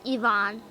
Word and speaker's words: Ivan: is interesting like we we normally say names like Ivan right in Russian it's pronounced Ivon that's weird what a